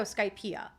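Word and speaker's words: Skypiea: Okay, it's pronounced like Pia, and that one is just both. Okay, great. So Skypeia.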